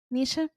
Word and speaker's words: Nisha: And am I pronouncing your name right? Nisha. Yes, Nisha.